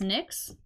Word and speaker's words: Nyx: an alignment task from the goddess nix i'll let you look at her she is and why x is how you spell it i know it's it's